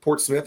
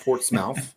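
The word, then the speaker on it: Portsmouth: Um Port Smouth Portouth is not Port Smouth.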